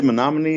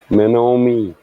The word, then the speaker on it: Menominee: What's the proper way to say Menominee again? Menominee. Menominee. Yeah, you got to pronounce that O.